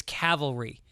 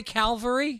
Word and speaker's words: cavalry: come on Mike Jesus it's Cavalry Cavalry do you say Calvary Cal calvalry Calvary I think I do drop an L in there Calvary I wouldn't spell